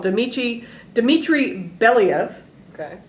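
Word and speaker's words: Belyaev: scientist called Dimitri Dimitri bellev okay I am from Alaska so we can see Russia from there so I can pronounce this yeah you got you can trust me on the pronunciation and so back in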